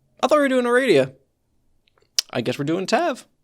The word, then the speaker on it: Aradia: I'm really looking forward to this because we got Tav and Aradia. It's pronounced Aradia.